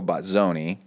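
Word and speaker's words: Bozzone: December, protralet triathlete Toenzo Batzonei, and it's spelled Bone. B O Z O N E, but if you if you're in the know, you say Batzone.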